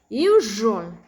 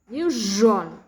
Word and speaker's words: usual: Many non-native speakers miss this pronunciation with the sound. Usual, usual, unusual. It's very common. Usual, unusual, usually, usual.